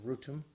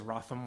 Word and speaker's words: Wrotham: had tripped me up but it's locally pronounced rootin though the train says wrotham ones you pull in